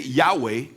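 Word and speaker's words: Yahweh: J'ai tendance à croire le nom du Seigneur prononcé Yahé correctement.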